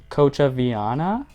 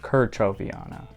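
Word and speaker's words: kerchoveana: This is my Maranta leuconeura Kochaviana, I think is how you say it. Kerchoviana.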